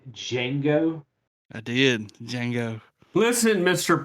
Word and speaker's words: Django: that even spaghetti westerns pronounce the d in django i did django listen